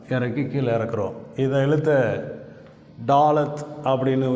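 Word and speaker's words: ד: இதை எழுத்தை டாலத் அப்படின்னு உச்சரிக்கிறோம்.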